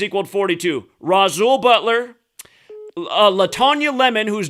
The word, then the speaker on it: Rasul: eddie griffin and uh rasul butler you always call him rashwell butler oh yeah wait help me out how do you pronounce his first name right it's roxul rasul okay my bad that that's